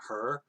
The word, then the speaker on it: Hur: No, it's like this dude named Hur. But of course, this Hur is spelled Hur. Still pronounced the same way.